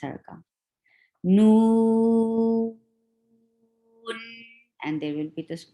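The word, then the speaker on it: نون: Why we are stretching noon? Because more 3 letters are involved to pronounce this letter, and you find sukoon at the last, and you find the mad letter before it. Whenever this combination comes, you stretch it more than 2.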